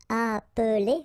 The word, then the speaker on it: appeler: ve and nir, but then clearly you don't pronounce it, so you get revenir, revenir. Okay, same thing here, appeler, but then you get appeler, appeler, and then samedi.